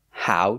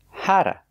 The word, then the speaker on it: how to: pronounce it the same they pronounce it hara hara not how but the t changes to a d sound a fasti hara example